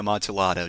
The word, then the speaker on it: Amontillado: Also, it's actually a Amontillado, damn it. I mispronounced the name.